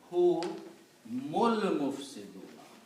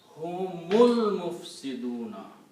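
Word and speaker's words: هُمُ الْمُفْسِدُونَ: So you do not pronounce this alif in the middle, and you pronounce hu mul mufsiduna.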